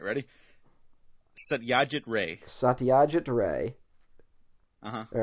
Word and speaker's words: Satyajit Ray: I can't even pronounce, like, American names, so... All right, ready? Satyajit Ray.